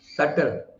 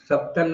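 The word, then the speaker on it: subtle: वगर ठीक करने वाला सटल सबटल नहीं बोलने का सटल सकम वूम मा की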